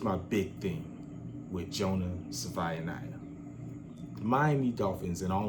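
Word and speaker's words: Savaiinaea: Sione Ah Kalia.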